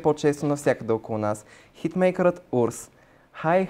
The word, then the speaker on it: WRS: Хитмейкърът Урс.